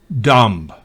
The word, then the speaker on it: dumb: Por ejemplo, si B va después de M al final de una palabra, no se pronuncia. Por ejemplo, bomb, dumb, climb, lamb, thumb.